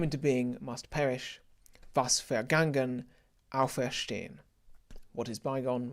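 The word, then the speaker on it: vergangen: german spelling is that a v is pronounced as an f so it's a fair game it's unvoiced fairgen vas fergangen same thing alfreshdean we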